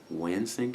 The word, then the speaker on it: Wansink: I totally works cited to Brian, I think Wansink is how you say the guy's name.